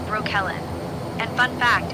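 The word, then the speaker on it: Breukelen: Broekelen is pronounced roughly as Broo-kuh-len, and it's the Dutch town that gave Brooklyn, New York its name.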